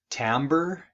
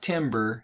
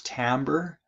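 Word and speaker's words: timbre: musicians or something and this word right here is pronounced tamber it's not Timber it's tamber and that is basically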